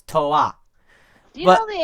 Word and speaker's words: Toa: Lego got sued, but because of that, Bionicle is actually pronounced a lot of the same way Japanese is pronounced.